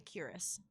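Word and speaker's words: Kuras: are you uh so I think it's pronounced curus you may call me curus and where exactly am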